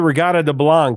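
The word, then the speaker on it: Reggatta de Blanc: Yeah, I always said riata de blanc. That's always how I heard it said, but we can go with that.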